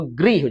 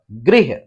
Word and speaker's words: गृह: अब ग में यदि हमने री की मात्रा जोड़ा तो ग्री हो जाएगा, ग्री, और ह, गृह, क्या पढ़ते हैं इसे, ग्रह नहीं पढ़ते, गृह पढ़ते हैं, गृह।